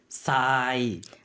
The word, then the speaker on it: ทราย: 오히려 쌍시옷 발음이 됩니다. 그래서 굉장히 독특한 예시거든요. 그래서 단어 살펴보도록 하겠습니다. 첫 번째 단어입니다. 모래, ทราย 알다의 공손 표현.